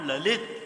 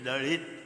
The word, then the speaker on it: Lalit: I told them 10 times that he is not Lalit, he is Lalit.